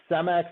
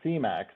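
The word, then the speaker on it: Cemex: would note that that that is pronounced semx not cax uh there's been heated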